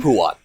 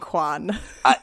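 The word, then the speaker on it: Huan: Before we move further, what is the pronunciation of that dog's name? HUON. HUON is correct. You are correct, yes. In my head, I just started saying Juan. A lot of people do.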